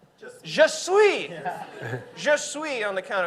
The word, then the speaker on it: Je suis: It's French for I am. It's just sweet. Je suis.